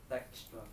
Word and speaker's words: Dijkstra: This is how you pronounce Dijkstra.